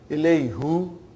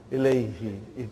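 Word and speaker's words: إليه: Ilayhu. It takes extra effort. And even also, it doesn't sound nice to the ear. So, who became now pronounced ilayhi. You can pronounce with ease, See, that's how beautiful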